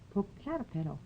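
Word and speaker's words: Popocatépetl: c a t e p e t l po caterp po H po pole caterp po po Catal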